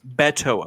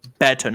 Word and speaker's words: Beto: And also, quickly, it's Beto O'Rourke, everyone. Beto, not Beto. If anyone says Beto, they're automatically too white for me.